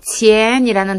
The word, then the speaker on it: 钱: 그리고 마지막으로 钱이라는 단어는 돈을 뜻하고요. 아래에서 위로 부드럽게 올려주세요.